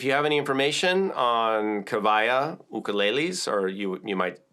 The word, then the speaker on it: Kiwaya: have any information on kavaya ukuleles or you you might say you might call them Kawaii but W's are pronounced V's at least in the Hawaiian language so I'm going to say kavaya and I'm also going